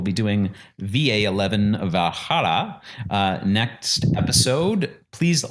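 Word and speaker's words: VA-11 Hall-A: to say the name it's a V a 11 Hall a so Valhalla Valhalla basically yeah it's a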